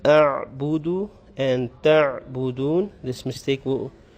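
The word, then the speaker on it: أَعْبُدُ: In the next verse, the la a'budu, you'll prolong the la, and the ayn, you have to make sure you say it properly. A'budu, without making qalqala, without echoing it. Some people have the tendency of saying a'budu, which is wrong.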